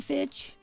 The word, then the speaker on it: Fitch: It's Fitch, by the way. I'm Fitch. Okay, so No, just Fitch.